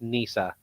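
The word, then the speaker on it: Nissa: But okay, they never really clarified how to pronounce her last name, but it's just Nisa.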